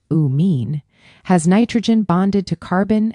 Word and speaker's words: amine: An amine, pronounced uh mean, has nitrogen bonded to carbon and hydrogen groups without a carbonyl directly attached.